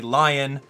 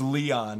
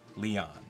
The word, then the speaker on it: Leon: Don't call me Lion. It's Leon, apparently. I was actually listening to Erica's voice clips in game, and she officially pronounces his name Leon.